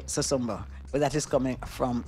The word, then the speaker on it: Susumba: And since the name of the restaurant is Susumba, I will start with that Maybe they pronounce it different as Susumba. Susumba. But it is, we say Susumba.